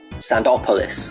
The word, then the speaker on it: Sandopolis: Sandopolis, I think is the proper pronunciation.